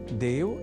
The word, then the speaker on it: देवः: यहां देवः इस शब्द के उच्चारण में ए इस अक्षर का विशेष ध्यान रखे जाने की आवश्यकता होती है। अर्थात ऐ इस अक्षर का प्रयोग हमें नहीं करना होता क्योंकि देव तो ईश्वर